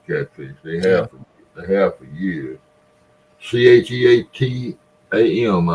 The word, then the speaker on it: Cheatham: Cheatam, I believe is the way they pronounce it.